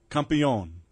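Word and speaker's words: Campeon: want some good tequila campion and it's spelled like camp c-a-m-p e-o-n small batch single barrel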